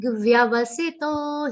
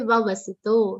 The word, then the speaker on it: vyavasito: First va is half. Second va is complete. Do not say vavasito. Many people do not say the sound of ear properly, and then this pronunciation error occurs.